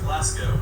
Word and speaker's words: Glasgow: Most cringe-worthy of all include the cities of Leicester and Glasgow, which in previous videos I pronounced as Leicester and Glasgow.